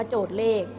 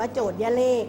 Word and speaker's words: โจทย์: กำกับ อยู่ ด้าน บน จะ ไม่ ออก เสียง ย นะ คะ ไม่ ออก เสียง ย อ่าน ว่า โจทย์ เลข จะ ไม่ อ่าน ว่า โจทย์ ย เลข นะ ชอ 4 อ่ะ